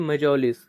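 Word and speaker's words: mjolis: क्या किया, and played मेजोलिस, ठीक है, मेजोलिस इसका सही प्रोनाउंसिएशन है, with his guest until bed time.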